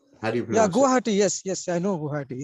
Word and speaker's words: Guwahati: okay okay got it yeah how do you pronounce that guwahati guwahati yes yes I know guwahati yeah yeah okay